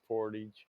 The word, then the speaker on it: portage: But most Americans know where the word comes from, but we still pronounce it like an American. Portage.